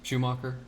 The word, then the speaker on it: Schumacher: Schumacher. Schumacher, okay.